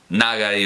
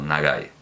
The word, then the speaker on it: Nagai: Se sabe perfectamente que el acento en japonés no es fonemático, así que da lo mismo decir Akira que Nagai o Nagai.